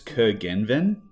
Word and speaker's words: Curgenven: I believe it's Curgenven, in Australia anyway. It's originally from Cornwall. And when I've done the Google Translate, it comes out totally differently. So I've never actually heard it pronounced properly. So in Australia, I've just broken into 3 syllables and just gone Curgenven.